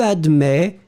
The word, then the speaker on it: admets: You will write it A-D-M-E-T S. Final S is not pronounced, so you will in fact pronounce admet.